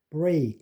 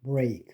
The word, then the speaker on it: break: stake, break. 이거는 EA가 A로 발음되는 아주 unusual한 케이스입니다. stake, break.